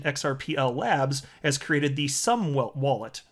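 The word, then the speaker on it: Xumm: Labs, has created the Sum Wallet, spelled X-U-M-M, the Sum Wallet. So it's the letter X, but it's pronounced S, because reasons, that's why.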